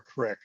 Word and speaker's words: creek: we call them a creek. Being from Pennsylvania, call them a creek or a crick. There you go. Yeah, crick is the pronunciation in the rural areas of Pennsylvania.